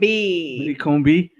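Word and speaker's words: Widdicombe: So The way some people pronounce his name. Widdi Combe. Widdi Combe.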